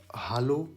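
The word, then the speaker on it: Hallo: हालो, अच्छा हेलो को हालो बोलते हैं, जैसे इंग्लिश में अपन क्या बोलते हैं, हेलो, वो जर्मन में बोल देते हैं हालो, बस ई की जगह पे ए आ जाता है।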